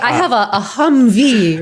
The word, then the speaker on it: Humvee: like i have a humvee right yeah that's right you put the accentuation on the last syllable googling it trying to